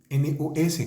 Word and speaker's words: nos: Fíjense que aquí está el adjetivo posesivo, NOS, que es nuestros, es en plural, nuestros, se dice no, y se escribe nos.